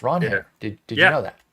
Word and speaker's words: Ranger: We got uh Ron Her Suárez. By the way, I learned this from Nick. It's Ron Her.